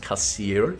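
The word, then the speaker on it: Cessair: Anyway, as I was saying, we just came through the Kasir lawns. That is pronounced Kasir, even though it looks like it's spelled like Caesar or something. Now, Kasir is a name from a Christian apocryphal Irish pseudo-history.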